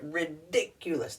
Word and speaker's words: ridiculous: that's the adjective ridiculous now the emphasis is on right here ridiculous that's ridiculous what does